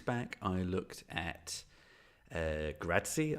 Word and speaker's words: Grazie: i looked at uh gratzy i'm going to pronounce it correctly in this video not grassy as i kept trying to call it for some strange reason um gratzy from jetbrains which is